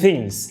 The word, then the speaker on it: things: بص with things، لو انت ركزت كده with things الكلمة دي انت ممكن تنطقها with والكلمة دي اسمها things.